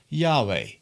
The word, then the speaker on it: Yahweh: In English we pronounce it as Yahweh.